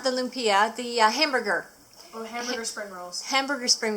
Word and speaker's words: lumpia: and have a taste test say it properly lumpia lumpia lupia this is our taste test and she's in